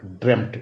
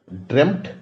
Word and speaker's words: dreamt: इसे दो तरह से पास्ट टेंस लिया जा सकता है, ये करके ड्रीम्ड या ड्रेम्ट, DREAMT। फिर से दोहरा देता हूं, ड्रीम का पास्ट टेंस, पास्ट पार्टिसिपल दोनों ड्रेम्ट, DREAMT, ड्रेम्ट, और ड्रीम्ड, पास्ट पार्टिसिपल में भी ड्रेम्ट और